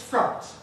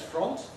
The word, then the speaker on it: front: No native speaker of English says front, because in every kind of English, this has a different vowel. It has the vowel of strut, the vowel of a cup that you would drink from, the same vowel as love in I love you. It's front. So anybody who says front, not a native speaker.